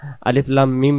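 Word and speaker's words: الم: তাসদিদ তাসদিদের উপরে জবর পাওয়া যায় তো আমরা আলিফ লাম মিম মা পড়বো না আমরা আলিফ লাম মিম সূরাতুল বাকারার মতই পড়বো আলিফ লাম মিম আলিফ লাম মিম আলিফ তাড়াতাড়ি বলবো আলিফ টান দেওয়া লাগবে না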